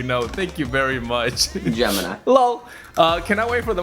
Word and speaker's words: Gemini: Also, it's Gemini, spelled like gelatin or jelly, not Gemini.